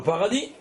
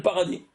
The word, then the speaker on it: paradis: Tu es au paradis? Alors c'est pour ça que ça s'appelle paradis. Oui, mais quand tu dis en français, le S, il se prononce pas.